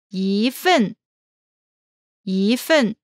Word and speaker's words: 一份: When 一 one is followed by a fourth tone, it changes to the second tone. 一 such as 一份一份 Here is the variation pattern.